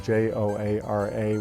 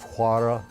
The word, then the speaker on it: Joara: It's spelled various ways, most often Joara, which in Spanish might have been pronounced Juara, but it's also spelled Xualla, which would be pronounced Schwala.